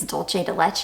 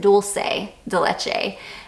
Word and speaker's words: dulce de leche: caramel and I think it's dolce de leche in this or Dulce I think that's how people told me to pronounce it dulce de leche there's something about how